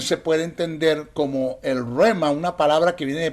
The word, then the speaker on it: rhema: Roma que es la el se escribe RH e m a rema Qué es el rema